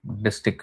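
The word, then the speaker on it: distich: Yeah, a distic, sorry, distic is how it's pronounced um district.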